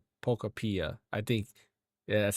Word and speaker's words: Pokopia: I think actually they said it is pronounced Pokopia.